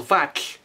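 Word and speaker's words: vatlh: The syllable vak ends with this difficult sound TLH. We spell it TLH because it's a T and an L at the same time. So it is vak.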